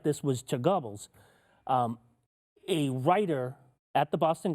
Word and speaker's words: Goebbels: I think you meant to say Goebbels. Goebbels, Goebbels, like gerbils. He says Goebbels like gerbils. Yeah, He there did is say it really weird. Goebbels. There is the both. I've seen both pronunciations.